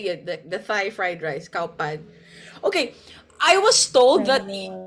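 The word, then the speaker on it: ข้าวผัด: That's how they say it, the Thai fried rice, cow pad.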